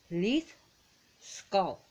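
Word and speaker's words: Hliðskjálf: And the throne is actually pronounced Leith Skull. Leith Skull. Even though it's spelled HLI with the curved D, SKJALF, yes. So it's Leith Skull.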